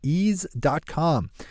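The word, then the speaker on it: Eaze: law when you fire up east comm which is spelled e a Z e ease calm and don't forget to swing over to ease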